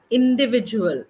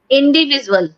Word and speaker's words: individual: uh ma'am again individ individual not visual indivisual visual visual no no indivisual h indiv individual yeah